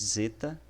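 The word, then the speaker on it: ζῆτα: realmente chamado de zeta, é um Z mais ou menos tendo um D aí por trás, né? Zeta, zeta, tá? E a pronúncia dela é como se fosse um dz, dz, em Edson, por exemplo.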